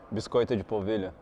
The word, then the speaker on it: biscoito de polvilho: Biscoito de polvilho.